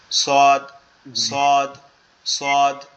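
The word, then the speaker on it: صاد: সোয়াদের উচ্চারণটা হচ্ছে আমাদের জিহ্বার আগা সামনের নিচের দুই দাঁতের আগার সাথে। সোয়াদ, সিন এবং ঝা, এই তিনটা একই জায়গার থেকে। সোয়াদ সদ সদ, এরকম ভাবে হবে, ঠিক আছে?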